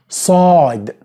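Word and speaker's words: صاد: Sad. Which is pronounced S.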